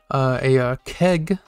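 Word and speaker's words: け: From the same column, we have the kana that looks like keg, so it's pronounced ke, from the K column.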